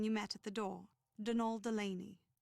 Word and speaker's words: Donal: met at the door denal Delany not Donald mind you there's no D at the end so it's pronounced denal